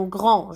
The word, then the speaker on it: grand: sont des lettres muettes un grand jour le d on le voit dans le mot mais on le prend on sait pas un petit chapeau le